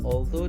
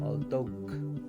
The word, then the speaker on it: although: Ya, dengarkan ya, kata although kalian biasanya membacanya although. Ya, yang betul itu GH-nya jangan dibaca. Although.